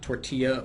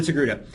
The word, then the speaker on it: Togruta: So again, we've shown you guys the Togruta, pronounced Togruta, not tortilla or tortuga.